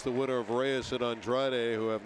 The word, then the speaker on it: Andrade: They're pronouncing it Andrade. So it's Andrade and Reyes.